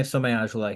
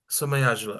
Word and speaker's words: Somayajula: name and didn't want to assume how to pronounce it. So could you say your last name? Yeah, of course. Hi everyone, Somayajula here. Somayajula.